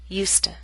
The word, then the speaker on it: used to: to complain so much both the affirmative and the negative form have the same pronunciation USTA in contrast we keep